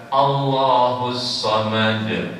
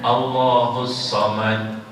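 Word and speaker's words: الله الصمد: Nah, kalau kita baca Allahus Samad, artinya apa? Allah tempat bergantung. Kalau kita baca tanpa qalqalah, tanpa kita pantulkan, artinya berbeda. Allahus Samad, berarti seakan-akan belakangnya ta. Allahus Samad, bukan dal lagi, ta jadinya.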